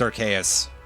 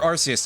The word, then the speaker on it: Arceus: They finally added that with Legends Arceus. Or Arceus, depending on the pronunciation that you go with. Depends on whether or not you have interacted with the franchise after House MD.